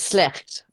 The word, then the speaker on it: Slecht: Well, it's Dutch. It's slecht. Slecht. Slecht. All right. So if And it means really bad.